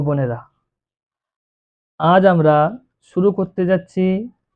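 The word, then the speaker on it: ب: তারপরে অক্ষরটি হলো বা। এ অক্ষরটি পড়ার সময় এক আলিফ টান দিয়ে পড়তে হবে।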